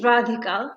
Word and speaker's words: Radhika: couple years ago right my name is radhika that is how you say it i don't have any